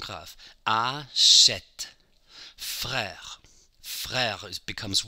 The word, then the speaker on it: frère: E accent grave, the R is at the end of a syllable. Frère, same thing.